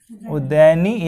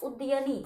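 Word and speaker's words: उदयिन: उसके बाद उदयनी या उदयभद्र, उदयभद्र। यह तीन इस उच्चारण सही नाम कैसे? उद्यनी। हाँ उदयनी, ठीक है।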